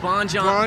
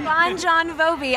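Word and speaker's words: Bon Jovi: his place what about you guys we think Bon joh and we say we say it that way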